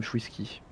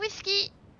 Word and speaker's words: Chouiski: Bonsoir, madame Chouiski. Oh, Ouais, c'est j'aime bien reçu. quand on prononce bien mon nom de famille, ça fait plaisir.